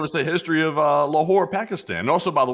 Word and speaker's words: Lahore: I thought you were about to give us the history of uh Lahore, Pakistan. And also, by the way, it's spelled L A H O R E.